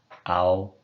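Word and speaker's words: αυ: Pronounce the alpha and then the upsilon and see what happens. A-U. And then do it more quickly. Ow. Kind of like the ow in ouch.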